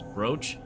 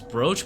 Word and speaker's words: brooch: It says it rhymes with coach. So it's brooch. It's brooch, but it's spelled B R O O C H.